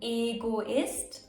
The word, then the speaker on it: Egoist: E can be pronounced long. E as in Egoist.